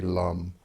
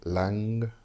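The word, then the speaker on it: Lam: look at the root chakra it would be lum l-a-m this can also be spelled Lum l-u-m or Lang long which is l-a-n-g and the NG is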